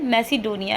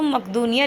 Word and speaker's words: मैसिडोनिया: छोटे से राज्य मैसिडोनिया, देखिए इसका नाम जो है मैसिडोनिया ही है, लेकिन जब हिंदी में इसका प्रोनाउंसिएशन किया जाता है या लिखा जाता है तो इसको मकदूनिया लिख देते हैं।